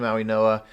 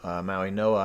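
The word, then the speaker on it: Mauigoa: No, Maui Noah, I believe, is how it's pronounced.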